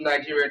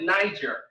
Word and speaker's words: Niger: Most people call it Niger, but it's Niger, it's French pronunciation.